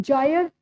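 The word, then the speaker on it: Kjær: जायर Thiel जायर जायर आई थंक के silent here it इ जायर luck जो डेनमार्क से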